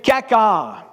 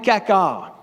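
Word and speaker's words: חקר: Donc, sonde-moi, le mot sonde-moi, sonder, le verbe sonder en hébreu veut dire kakar. Ça fait bizarre un peu à prononcer, mais c'est quand même kakar.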